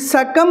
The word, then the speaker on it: succumb: Whenever we have MB at the end of any English word, majority of the times, most of the times, the B is a silent letter. ఇక్కడ ఏంటి? సకం అంటే సకం చనిపోవు.